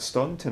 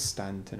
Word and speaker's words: Staunton: I'd have pronounced that Staunton Island myself, but it probably is Stanton Island.